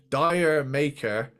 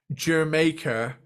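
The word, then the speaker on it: D'yer Mak'er: Now, it took me till recently diving into this to realize that the song I've been calling Dire Maker is pronounced Jamaica because it's a fucking reggae song.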